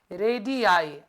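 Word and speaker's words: radii: सारे रेडियस हो गए ना तो उसको बोलेंगे रेडि आई एंड the spelling is आर ए जी आई आई double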